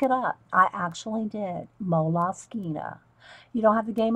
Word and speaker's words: Moleskine: I call them moles, but I think it's really actually pronounced. I did look it up. I actually did. Moleskine.